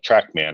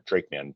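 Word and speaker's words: TracMan: But that was the TrackMan or TrakeMan trial. They spell it TRAC, so I just call it TrackMan, like Pac-Man.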